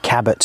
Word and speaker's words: Cabot: across to now you i pronounce it cabot circus you pronounce it french for some reason i don't know why as soon as i see that word c-a-b-o-t right i want to say cabo circus caboo shall we meet in